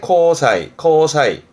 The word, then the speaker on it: 交際: 이게 교제, 함께 사귀고 어울리는 교제의 코사이. 앞에 게 실, 발음은 실제 뜻은, 발음은 지사이.